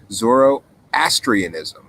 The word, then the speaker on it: Zoroastrianism: Originally got into, that's how you say it, Zoroastrianism. I was struggling to say that earlier, Super V Funcat. So thank you for writing it, because somehow when you wrote it, now I can say it. Zoroastrianism, I had to study in Catholic school.